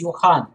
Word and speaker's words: Johann: make the pronunciation is yohan this is this j makes the year sound okay johan wiss and